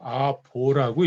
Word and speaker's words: 아보: 자로 읽으면 이때는 중부라고 읽으면 안 되고 아부라고 읽으면 안 되고 아보라고 읽어줘야 돼요. 아보.